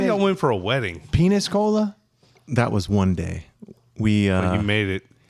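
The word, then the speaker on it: Peñíscola: Well, which I think was penis cola. It was. Well, that was one Game of Thrones. How do they pronounce it?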